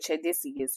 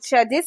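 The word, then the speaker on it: tchadensis: country all right but it has a t in the front but the t is silent okay anyways uh it's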